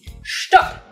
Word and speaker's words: Stopp: you already heard is stop same as stop but pronounced differently also spelled with two p's stop not a verb in